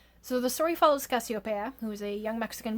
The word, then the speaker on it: Casiopea: But given the spelling and the fact that this book takes place in Mexico, I'm going to make the assumption that her name is pronounced Cassiopeia. So the story follows Cassiopeia, who is a young